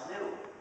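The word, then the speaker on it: gnu: countless word plays because according to the dictionary the g is silent and the word is pronouns new so anytime you want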